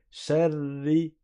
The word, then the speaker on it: شر: En arabe, quand tu restes appuyé sur le ra, c'est sans le faire rouler. Sharri, sharri, le ra doit rester figé. La langue doit rester figée. Sharri, sharri, pas sharri, sharri.